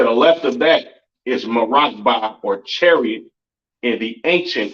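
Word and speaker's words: מרכבה: And it is pronounced Marakba in the Hebrew.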